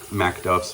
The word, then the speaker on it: Macduffs: face on this mcduff's Mac duffs mcduffs I always probably say it wrong it's it's Mac but anyways fantastic cushion